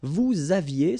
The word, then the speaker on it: vous aviez: Vous aviez, same thing here, a little liaison.